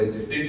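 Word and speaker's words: adjective: शब्द है हम उसको एडजेक्टिव कहते हैं क्या बोलते हैं एडजेक्टिव कहते कहते हैं तो एडजेक्टिव नहीं कहना है एडजेक्टिव एडजेक्टिव नहीं एडजेक्टिव डी साइलेंट होगा बोलो एडजेक्टिव बोलो एटिव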